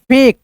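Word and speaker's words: fake: लेक ऐसे करके जैसे एफ ए के ई इसको क्या पढ़ेंगे भाई? फेक ऐसे करके।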